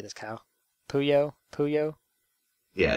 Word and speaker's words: Puyo Puyo: p who how do you say this cow puyo puyo yeah it's buya puyo puyo tetris this is